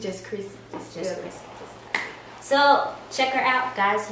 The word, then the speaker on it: Chrisse: out for my name on there is official Chrissy if you want me to spell it it's c h r i s s